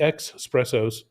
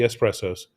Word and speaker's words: espresso: need to an espresso don't go for the ex espressos that's a press that's a form of presso go for the espressos that's how you pronounce it correctly and we'll see you back here at 16 30.